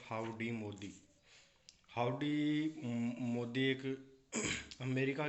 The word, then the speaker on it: Howdy: तो वहाँ पे बोला जाता है हाउ हाउ डू यू डू, ऐसे करके। तो उसको जब उच्चारण के रूप में लिया है तो उसको बोला जाता हाउडी।